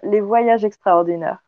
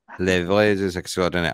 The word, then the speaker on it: Les Voyages Extraordinaires: the paranormal tourism company, Les Voyages Extraordinaires. And you can say it properly, since I'm not. No, but I love the way you say it. Les Voyages Extraordinaires. Les Voyages Extraordinaires.